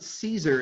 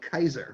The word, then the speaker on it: Caesar: it was all k you pronounce it like a hard c so it wasn't caesar it's actually like kaiser right so i think